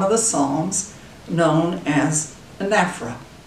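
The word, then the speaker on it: anaphora: 10 line form of the psalms known as anaphra spelled a-n-a-p-h-o-r-a but is pronounced differently anephra it's one to three words used at the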